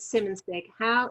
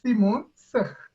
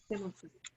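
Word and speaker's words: Simonsig: I pronounced it Simonson. Tell me how you pronounce it properly. So it's Simonson. Simonson.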